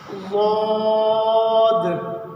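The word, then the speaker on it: ضاد: ज़ाद, ज़ाद। इसके प्रोनाउंसिएशन में अक्सर गलती होती है। ज़ुबान के साइड वाला जो हिस्सा होता है, किनारा वाला, ये ऊपर के दांतों की जड़ में लगाएंगे।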